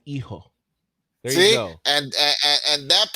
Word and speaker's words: hijo: The H is silent in hijo.